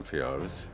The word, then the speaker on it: Amphiaraus: I play Amphiaraus. Well, there was a lot of talk about how to pronounce his name. It was Amphiaraus. Amphiaraus, everybody. Problems with Greek names, We eventually settled on Amphiaraus.